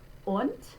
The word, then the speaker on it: und: Und, and notice that the D spelling at the end of the word, we pronounce like a T.